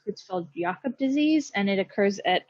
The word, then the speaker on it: Creutzfeldt-Jakob: The most common, I think it's pronounced Creutzfeldt-Jakob disease, and it occurs at about 1 in every 1 million people in the US.